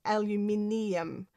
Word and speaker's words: aluminium: English speaking countries like like in Australia and in the UK it's it's um at the end there it's n ium. So we have aluminium and that that's why